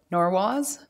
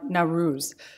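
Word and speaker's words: Nowruz: the international day of norwalls today March 20th is normal sorry now now ruse sorry I pronounced that wrong now ruse also known as the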